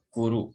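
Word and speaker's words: 来る: Ya, ini dibacanya kuru karena ada huruf ru di sini. Jadi ini dibacanya kuru ya. Bukan kitaru ya, tapi artinya datang ya.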